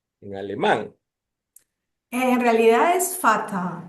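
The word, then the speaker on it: Vater: La la la B no se dice como la B dentilabial en el castellano, sino como una F. Entonces es fatal. Ya. Claro. Nosotros nosotros y bueno, eso de Bader, o sea, ya ahí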